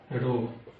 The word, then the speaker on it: rho: और इसका प्रोनाउंसिएशन क्या होता है, तो इसको हम बोलते हैं रो, RHO रो।